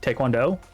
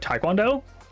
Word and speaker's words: taekwondo: The Korean the T-A-E is pronounced Tay. And the weirdest part, in English, if you have something written T-A-E, you say Tay.